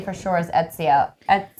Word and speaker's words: Ezio: only assassin that I know how to say for sure is Ezio. Ezio.